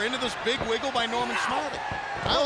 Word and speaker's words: Norman Smiley: You can see that Nor-man Smile-y.